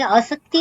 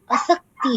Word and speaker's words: असक्ति: जी, आसक्ति पर ध्यान देंगे। आसक्ति नहीं है, असक्ति है। आसक्त और असक्त शब्द विलोम शब्द की तरह समझिए।